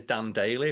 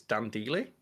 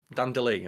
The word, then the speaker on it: Dan Deely: I've been saying it as Dan Daily, but it's Dan Deely. Uh I think it was Dan Deely. Dan Deely, okay.